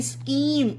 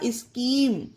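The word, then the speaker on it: scheme: स्टोम उसी तरह से यह है स्कीम एस सी एच यहां पर सीच वर्ल्ड के बीच में है तो एच यहां पर साइलेंट रहेगा स्कीम और आगे देखिए स्कूल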